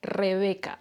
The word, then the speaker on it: Rebeca: Like, for example, my name is Rebeca en español. Rebeca, así como lo escuchan. Rebeca. But in English, they pronounce it like Rebecca, something like that.